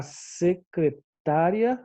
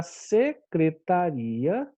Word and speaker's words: secretaria: e aí a bebê é secretária ou secretaria tá então é fui até a secretária buscar o novo formulário e eu acho que o meio estranho né vamos tentar outro fui até a secretaria buscar o novo formulário ficou mais correto né então é nós marcamos aí secretaria e não secretária secretária é a regra